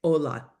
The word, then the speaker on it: hola: The H is completely silent. We say hola, hola, hola. We wouldn't say hola, hola. That's just weird, right? So hola, completely silent.